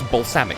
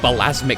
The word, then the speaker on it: balsamic: First of all, she couldn't even pronounce balsamic. She called it balasmic vinegar.